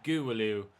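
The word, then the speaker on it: Gouweleeuw: at Jeffrey's pronunciation and it's a soft W not a hard W as I previously thought so it's a guru loo it's how you pronounce it something similar to that guru loop so we saw triangle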